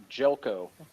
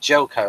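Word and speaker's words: Željko: Danvers, and that first name of the actor is pronounced Jelko. Yep, Jelko.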